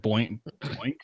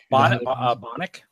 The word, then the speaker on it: BOINC: I don't know, is that boink? Bonic, I think is how it's pronounced.